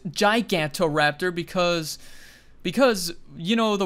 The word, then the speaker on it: Gigantoraptor: I don't pronounce its gigantoraptor because because you know the word geiger Giga and stuff so I just go with Giga and like Giga notice